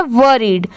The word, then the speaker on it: worried: ये है वरीड, WORRIED, इसको पढ़ते हैं वरीड। अब जैसे यहाँ पर WO है तो बहुत लोग इसको वो पढ़ेंगे, पर नहीं, यहाँ पर इसकी प्रोनाउंसिएशन हो जाती है पूरे की वरीड, वो नहीं वो होगी, ठीक है।